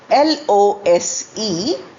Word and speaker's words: lose: L O S E and L O S E pronounced alike as lose. L O S E lose is fail to win or misplace.